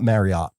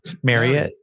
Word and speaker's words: Marriott: Also, do you know it's it's not Marriott. It's Marott. Like Yeah. Marriott. Someone who used to do their internal corporate events. I learned that it's pronounced like chariot.